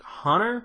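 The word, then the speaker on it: Hohner: Marine Band harmonica by like Hunter is how you say it I don't remember h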